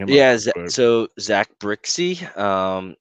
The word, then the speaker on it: Brzykcy: Yeah, so it's spelled BRZYKCY. Oh, that's Brixey.